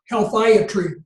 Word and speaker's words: healthiatry: And the word is pronounced healthiatry, like psychiatry.